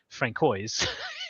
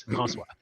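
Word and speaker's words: François: That little funny little squiggle thing under the C there, that is a sign that it is a soft C. And not, as I got called when I lived in Boston all the time, Francois. It is Francois, because it is a soft C and a silent S.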